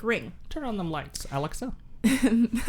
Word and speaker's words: Alexa: Turn on them lights, Alexa. Why'd you say her name like that? You said Alexa. Did I? Like Alex. Isn't it technically Alexa? Like Alexis. I know. But with the It's still Alex.